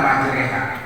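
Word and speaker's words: مجريها: banyak dalam Quran ya Bismillahi maj bacaannya ada enggak majreha Bacanya apa roh tapi dibaca majre Bismillahi majreha Allah Muhammad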